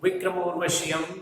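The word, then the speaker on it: विक्रमोर्वशीयम्: शाकुंतलम, और उसके बाद विक्रमोर्वशीयम। इसको ठीक से प्रोनाउंस करना बहुत जरूरी है, हालांकि थोड़ा मुश्किल है, लेकिन विक्रमोर्वशीयम, that is हाउ we should pronounce it.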